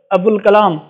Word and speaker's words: ابو الکلام: ہے، سائلنٹ ہوتا ہے۔ جیسے یہاں پر ابو الکلام آزاد، ابو الکلام، تو یہاں پر وہ نہیں پڑھا جاتا، ابو الکلام، ٹھیک ہے۔